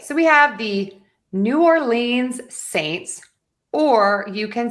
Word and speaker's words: New Orleans: So, for today, I say New Orleans. So, that's kind of what we're going to go with. And so, we are going to stress the or New Orleans.